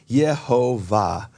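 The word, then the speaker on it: יְהֹוָה: And both of those dialects of Hebrew preserve God's holy name, the name of the Father, as Yehovah.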